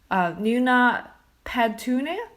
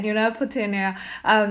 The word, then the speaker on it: Nuna Petunia: Tuesday, and they also have a lovely dog, Nuna Petunia. Is that how you pronounce it? Yep. Yeah, Nuna Petunia, who has been lived with Teela since March of 2009.